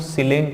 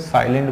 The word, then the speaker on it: silent: अब देखो इसको हम लोग सिलेंट नहीं बोलते हैं, ठीक है, इसको सिलेंट नहीं बोलते हैं, इसको क्या बोलते हैं? साइलेंट बोलते हैं।